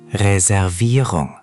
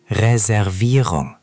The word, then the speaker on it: Reservierung: Reservierung is the tricky part. The emphasis goes on the third syllable. Reservierung. Try just that word. Reservierung. Reservierung. Ich habe eine Reservierung auf den Namen Devendra.